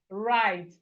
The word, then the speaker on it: write: We have it in words like right. Right, the W in right is silent.